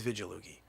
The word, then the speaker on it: Vigilugi: it francesco vigolugi vidjaloogie some people go with the with the hard g no it's vigilooki you give him veggie